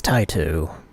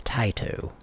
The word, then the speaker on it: Taito: Metal Black by Taito, or Taito. It's Taito. I just, I grew up in Oklahoma, and we said Taito. But I'm pretty sure now I know it's Taito, so I'm going to say it correctly.